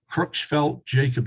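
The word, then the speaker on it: Creutzfeldt-Jakob: and ladies i think the way they pronounce it is crooks felt jacob disease or mad cow disease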